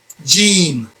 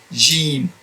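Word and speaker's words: ج: of the Muslim world, they pronounce this as Jim. It depends on whether you came from Egypt or Morocco in that part. They pronounce it as not as firm Jim like I'm pronouncing it. They pronounce it between G and Jim. But either way, it's okay. But if you can pronounce it as Jim, that'll be good.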